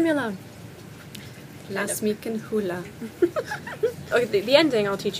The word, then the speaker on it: Ruhe: Lass mich in Ruhe. Lass mich in Ruhe. Lass mich. Lass mich. Mich. Mich. In. Ruhe. Ruhe. Ruhe. Ruhe. It's spelled R-U-H-E. It sounds like Hawaiian again.